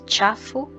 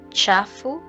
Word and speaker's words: chafu: So the CH combination will give you the cha sound. Cha. A Swahili example here is chafu and chakula. Chafu, chakula.